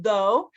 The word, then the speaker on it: though: So this one is though, like, although that happened, or even though, blah, blah, blah, right? So though.